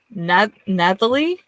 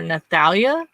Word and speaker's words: Nathalie: Because Nathalie, that always comes on, I always keep wanting to call her Nathalia because that just rolls off my tongue better. And I know I'm saying it wrong when I say it.